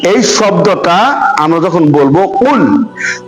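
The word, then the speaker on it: قُلْ: শব্দটা আমরা যখন বলবো কুল কফের উচ্চারণটা গলার মাঝখান থেকে এমন ভাবে উচ্চারিত হবে যাতে ছোট কাপ যে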